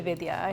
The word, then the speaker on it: Vidya: But yeah, it's usually, I say Lydia, rhymes with Vidya, or video like Vidya. That's pretty good. But it's actually Vidya. Vidya.